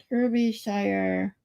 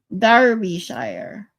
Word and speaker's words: Derbyshire: Derbyshire.